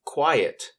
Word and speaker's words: quiet: Keep in mind that for this one, the I and the E are separate and don't join together to make one sound. It's QU, then I, which says its name, then ET.